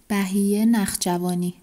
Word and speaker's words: Bahiyyih Nakhjavani: J'ai demandé à une amie qui vient d'Iran de prononcer le nom pour moi, comme ça vous saurez comment ça se prononce. Bai Narshavani.